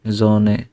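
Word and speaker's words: Sonne: যে উচ্চারণের নিয়মটাই এমন, এস এর পরে যদি ভাওয়েল থাকে তাহলে হচ্ছে যে এই আই ও ইউ থাকে, তাহলে বর্গার জয়ের মতো উচ্চারণ হয়।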